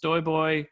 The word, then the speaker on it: STOJBOJ: My handle tends to be it's STOJBOJ, and it's actually pronounced Stoyboy because my name is weirdly pronounced and weirdly spelled.